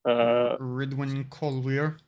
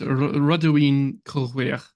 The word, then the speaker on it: Rodwin Colweir: Ridwin Colweir, or however we pronounce that. It's Rodwin Colweir. It's Welsh.